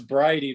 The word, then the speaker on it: Briody: It's Bridie, but no one has ever gotten it right.